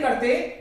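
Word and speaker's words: car: जैसे इसको लीजिए, कार, कार नहीं, का, आप ही खत्म करो उसे, कार।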